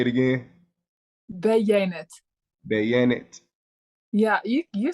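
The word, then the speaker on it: Beyaynetu: Okay, what about Beyanet? Say it again. Beyanet. Bayonet.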